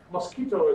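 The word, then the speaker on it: Mosquitto: The English word mosquito is, of course, spelled with one T, but Roger was looking for something that contains MQTT, and that's why we call it mosquito.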